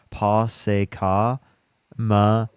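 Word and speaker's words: Posse Comitatus: It's pronounced Pa Matas.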